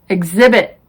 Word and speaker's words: exhibit: spellings who whose whole the h is silent in these words our honest honor air oh vehicle exhausted exhibit rhyme rhythm some common expressions are